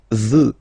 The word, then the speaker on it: veux: Vouloir, first person, je veux. Final X not pronounced.